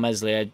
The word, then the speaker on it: Meslier: of mistakes in him and messily silent s is far better but kiko's got to be good around mesley silent s just for his experience everything whatever whatever whatever but you'd have to spend big money on a player that's going to come in knowing he's going to sit on bench and not overtake mesli silent s so that's that's a